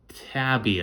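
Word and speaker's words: Taibbi: this was released by Matt Tabby I believe is how you say his name on Twitter spelled like Matt m-a-t-t and then t-a-i-b-b-i if you want to go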